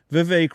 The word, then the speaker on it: Vivek: Vivek Ramaswamy is now the new front runner behind Trump.